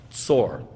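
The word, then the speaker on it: צור: Tyre, now in Tyre, the way you say that, you know how to say it in Hebrew? Like Bein HaMetzarim, like birth pangs. Tsor.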